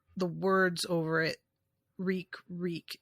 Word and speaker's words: Reek: words over it reek reek it rhymes with weak and I put that